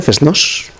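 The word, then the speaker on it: fest-noz: que pasa nas FESNOZ, que se pronuncia así con seseo, FESNOZ, é unha foliada.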